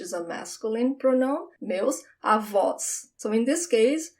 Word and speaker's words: avó: Grandmother is avó. There's an open sound for this O. Avó. It's almost like you are in awe.